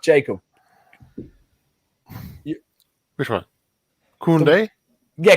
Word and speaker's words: Koundé: Koundé? Yeah, Koundé.